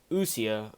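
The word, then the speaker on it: ousia: so substance again uh if that's how you pronounce it usia yeah that's a horrible pronounce but it's o u s i a right and so what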